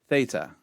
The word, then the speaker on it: theta: makes an a sound theta theta T H as in thick theta Yatta Yatta Yatta